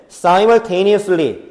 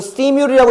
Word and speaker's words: simultaneously: 소셜 미디어는 simultaneously 동시에 이거 시뮬이라고 읽는 거 아니다. 참고로 사 이렇게 나가는 거야. 어, 동시에 이런 뜻이지.